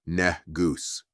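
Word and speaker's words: ንጉሥ: surprised to learn that nus pronounced negus is an honorable title meaning king.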